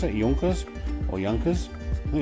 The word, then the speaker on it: Junkers: I think that's the right way to pronounce it. Junkers or Junkers. I think it's Junkers.